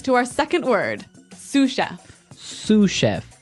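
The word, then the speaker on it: sous chef: Sue chef. Sue chef. Sue cheef. S o u s. So the s is silent because it's like a French word.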